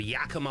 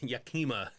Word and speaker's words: Yakima: So, after a series of murders in his hometown of Yakima, Washington, Joseph goes to rehab.